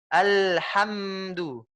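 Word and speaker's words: الحمد: Al. Sampai sudah bisa senyum. Ham. Sudah bisa senyum, itu berarti sudah sempurna, Bu. Alhamdu.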